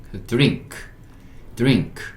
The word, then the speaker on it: drink: NG는 둘이 만나서 그냥 이응 받침을 만들어 버리는 거고, N과 K가 만나면요, N을 이응으로 발음하고 K를 키읔으로 발음하는 얘기예요. 그리고 그리고 이응은 보통 받침으로 들어갑니다. 그러니까 NK니까 N이 여기 이응 받침 들어가고, K는 drink 이렇게 읽을 수 있고, drink는 마시다예요.